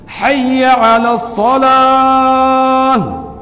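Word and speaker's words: حي على الصلاة: حیا۔ اور علی الصلاۃ میں جو علا ہے اس کا عین جو ہے اس کو الف سے حمزہ سے بدل دیتے ہیں، عین اچھے طریقے سے نکالتے نہیں ہیں، تو اس کا بھی صحیح تلفظ یہ ہے حی علی الصلاۃ حی علی الصلاۃ۔ دوسری غلطی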